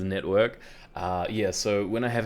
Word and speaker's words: NetVRK: It's not Netvrk, it is Netvrk.